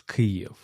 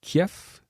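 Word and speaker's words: Київ: la ville la capitale l'Ukraine se prononce crie donc c'est parfois qu'on entend des toujours des journalistes francophones qu'il dit qu'il parle de Kiev ou Kiev qui est une plutôt une phonétique russe et ukrainien on dit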